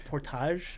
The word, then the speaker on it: portage: It's portage. I was literally just thinking that I have a graphic for this, but it's that's the French Canadian pronunciation.